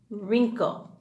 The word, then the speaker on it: wrinkle: When you see the W and the R together, the W is silent. Ruh. Wrinkle.